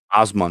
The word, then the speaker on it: Osmun: Osman or Osman? Osman. Oh, Osman. I think. I don't know. OSMUN, Osman Reptiles. Not Ozzy, but Osman.